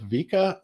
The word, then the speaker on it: Vikka: video is a gentleman by the name of vika is it draws if did i pronounce it right yes bob a big hello